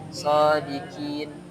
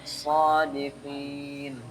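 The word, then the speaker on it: صادقين: Qo jangan sampai disamakan sama qi ya. Beda shodikin. Beda ya. Huruf kaf sama qof. Ah, itu beda. Kalau qo itu bacanya qo qo. Kalau ka ka berarti qi sama qi. Qi qi harus dibedain sodiqi. Sodiqin. Beda sama shodikin.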